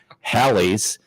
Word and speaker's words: Halley's: the common mispronunciation of Halley's rhymes with Sally's comet more wildly in